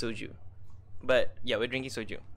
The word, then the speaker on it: soju: It's, it rhymes with, like Harvin said, it rhymes with kroju. It's soju.